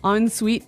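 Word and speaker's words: en suite: So even though it's E N, we pronounce it like an O N.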